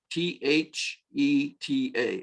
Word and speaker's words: theta: And the last of this four is theta, Theta, and we pronounce it theta.